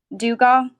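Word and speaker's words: Dugaw: you spell that n-e-l your last name Dugo duga d-u-g-a-w ho do you go mm-hmm does that say it right Dugo with a D I know it's a different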